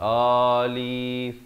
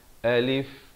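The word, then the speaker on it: ألف: cara bacaannya yang ini Alif disebut saja Alif dua suku kata dengan satu harakat Alif Alif jangan baca Alif betul ataupun Olive juga tak betul ya Betulnya Alif Alif kemudian lam ini dipanjangkan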